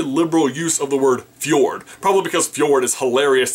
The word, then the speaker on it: fjord: If you saw the movie, you could not have missed their very liberal use of the word fjord. Probably because fjord is hilarious to say and it's spelled fj o r d.